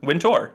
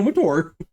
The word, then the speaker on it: Wintour: Wintour. Stop emphasizing the tour, okay? You're Wintour? killing me here. Anna Wintour. Anna Wintour. Anna Wintour. It's all one word. Anna Wintour. Well, Halifax, Anna Wintour.